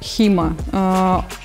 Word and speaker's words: HEMA: рассказать что такое схема схема это слегка исковерканной а аббревиатура которая на самом деле произносится как хима и переводится как исторически